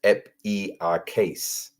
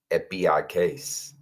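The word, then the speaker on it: ἐπιεικής: And the pronunciation down here says epiakes. Epiakes.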